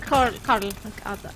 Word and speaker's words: Carl: So the name is Carl, but we don't pronounce the R.